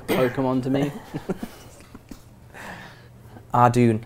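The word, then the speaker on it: Ardougne: Ardune. I'm still not. Ardoin. I'm not giving in. It's Ardune. I refuse to give in.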